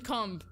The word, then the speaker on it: comb: The B is silent.